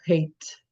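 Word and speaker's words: Haidt: Je crois que c'est la psychologie sociale son champ d'étude il s'appelle Jonathan Hate, je pense que ça se prononce comme ça. H A I D.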